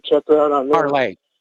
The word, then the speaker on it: Parler: Parlay. It's pronounced parlay.